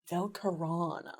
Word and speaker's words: Velkerana: That's Velkerana Sway. Velkerana, okay. Yeah. So most of the stress is at the tail end.